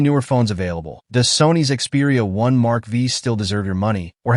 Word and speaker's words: Xperia 1 V: The Sony Xperia 1 V, pronounced Xperia 1 Mark V, launched back in 2023 is Sony's premium flagship.